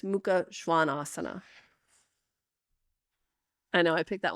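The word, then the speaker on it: Mukha Svanasana: short a which is Ado and then it's Muka Schwan Asana I know I picked that one specially for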